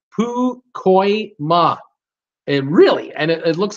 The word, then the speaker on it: Pacoima: Jordan, my city is pronounced Pukoima. It is a suburb of the northeastern part of San Fernando Valley, Los Angeles County. It's okay. I forgive you this time. So it's Pukoima.